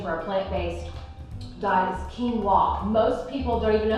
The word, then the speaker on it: quinoa: a plant-based diet is quinoa most people don't even know how to pronounce this um they say quinoa and I said that for a long time as well but it's actually called quinoa this is an ancient